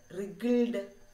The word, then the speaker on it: wriggled: Wriggled. Look at the word. Wriggled. Wriggled. So there is a silent letter. What is that? Yes, W. W is silent.